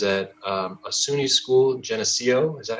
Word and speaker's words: Geneseo: that he was at um a suny school geneseo is that how you pronounce it jeff yep yep um where he